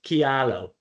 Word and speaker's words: Kialo: Yeah, it's pronounced kialo. Um uh but it can be pronounced however you want and people find all different ways to to pronounce it, but we pronounce it.